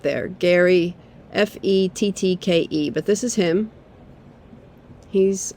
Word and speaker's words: Fettke: Gary Fettke. It's spelled Fettke.